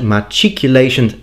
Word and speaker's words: machicolation: all in all it is my opinion that matriculation is in fact the best way to pronounce it so i've got to give it